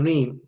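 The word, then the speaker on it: rheme: is re or comment this is pronounced theme and re okay comments something new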